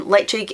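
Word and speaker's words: Ledaig: that's a weird one where the D becomes a g which you wouldn't know unless you'd heard someone say it because there are places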